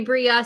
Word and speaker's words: Brea: Bri Bri, you go by Bri. It's like a Michael Mike thing. Bri. Bria.